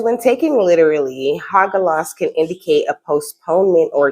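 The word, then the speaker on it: Hagalaz: Look, this is Haglas. Haglas. I think that's how you say it. Let me see. Oh, it's Hagalas.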